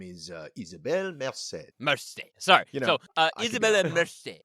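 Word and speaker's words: Isabela Merced: the name uh well her name is uh isabelle merced sorry you know uh isabella it's fine i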